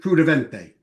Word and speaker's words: Kruttiventi: It's Kruttiventi. Yes. I say it the Italian way.